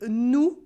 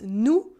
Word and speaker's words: nous: And a potentially embarrassing mistake arises with nous for we or us, nous, and nu for naked. Simply, for example, nous, on est content. We are happy. Nous, on est content is not the same as nu, on est content. We are happy when we're naked.